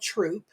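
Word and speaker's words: Throop: You know, we we have no We have a town called Troop. It's spelled T H R O O P P, but we don't pronounce the H.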